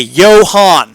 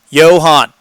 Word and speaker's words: Johan: Okay, Johan. Han is in Han Solo. Got it. Johan.